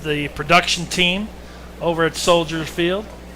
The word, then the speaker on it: Soldier Field: They moved from Bridgeview back to Soldier Field for the second time, and Jumbo Joe at the helm of the production team over at Soldier Field. Do not say soldiers. It's soldier.